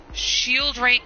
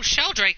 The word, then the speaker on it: Sheldrake: letters they seem familiar Shield rank five sheldrake five oh shell Drake five okay that's how you say it I think I